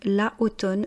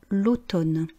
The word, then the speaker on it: l'automne: Devant une voyelle, on fait une élision donc on prononce bien à l'approche de l'automne on allait au bois